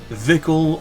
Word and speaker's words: Vickle: Vicle rhymes with sickle and or pickle.